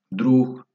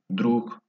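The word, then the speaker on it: друг: fuerte, es una clase, drug, drug. Es amigo, drug, amigo, drug, ¿no? Así más o menos como la G al final, amigo.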